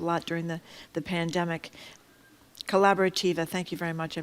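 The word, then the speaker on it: Colaborativa: to fight for justice and to la corab Calabaritava in Chelsea. I'm mispronouncing that. I'm sorry. But it is a great uh grassroots organization over there in Chelsea. They helped a lot during the the pandemic. Collaborativa.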